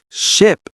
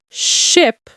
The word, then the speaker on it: ship: Ship has a short sound, eh. Sheep has a long one, e. So, ship, I, and sheep, E.